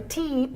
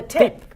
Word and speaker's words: tip: It's not from the teep. Yeah. It's No, from the tip.